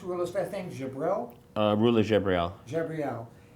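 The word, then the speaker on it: Rula Jebreal: based on a book uh how do you pronounce ruler than Jael uh ruler jabriel jabriel it's premiering at uh Toronto uh and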